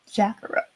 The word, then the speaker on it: Zacharat: It's like Kakarot, but like Zacharat.